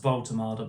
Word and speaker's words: Woltemade: And now, obviously on to Nick Volultard. It is pronounced Voltomada, by the way.